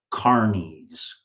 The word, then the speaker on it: Carniolans: Carniolans. That's how it's pronounced correctly.